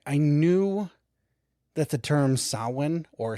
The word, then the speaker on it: Samhain: I I knew that the term sawin or Sam Hayne as like 99% of us pronounce it upon that's how I always did upon viewing it.